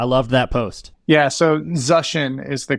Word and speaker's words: Zuschin: last name I love that post yeah so zushin is the correct pronunciation the most common mispronunciation is zushin but probably because of like spell check I